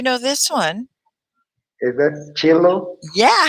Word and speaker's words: cello: Is that cello? Yeah. How did you know that? You have to say it like a ch.